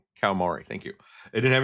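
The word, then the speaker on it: Kawamori: um the original creator whose name I can't pronounce because I'm always bad with the names. So, uh Kamari Kamari, thank you.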